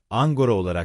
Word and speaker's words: Ankara: Europa pronunciaba Ankara como Angora en sus propios idiomas.